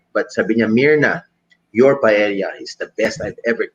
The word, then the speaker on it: paella: Alam ko si Chef RB may paella yan, pero paella pala ang pronunciation.